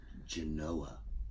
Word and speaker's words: Genoa: Genoa.